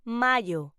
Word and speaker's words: mayo: May in Spanish is pronounced mayo.